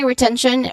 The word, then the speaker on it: retention: Okay, you start with the first syllable re, which has a short e vowel sound, and then ten, which has still a short e sound, and you end with tion, which sounds like shun. Okay, shun with a schwa sound.